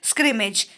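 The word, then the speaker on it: scrimmage: तो देखिए स्क्रीमेज, स्क्रीमेज, स्क्रीमेज वर्ड को जब हम प्रोनाउंस करेंगे तो हम आइसक्रीम वर्ड एक कनेक्ट कर सकते हैं। Scream, ice cream, scream, स्क्रीमेज, ice cream, स्क्रीमेज, ice cream, ऐसे कनेक्ट कर लेंगे।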